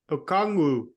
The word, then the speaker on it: Okongwu: Okongwu.